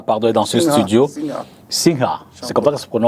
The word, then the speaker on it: Singha: Maître Zinga, donc, est dans ce studio. Singa, pardon, est dans ce studio. Singa, c'est comme ça que ça se prononce.